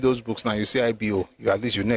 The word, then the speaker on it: Igbo: But the right pronunciation is IBO.